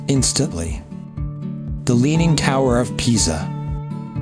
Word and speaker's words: Pisa: Say it like you're angry. Pisa.